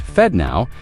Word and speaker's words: FedNow: On the other, their SFD now, pronounced Fed Now, a governmentbacked instant payment service operated by the Federal Reserve itself.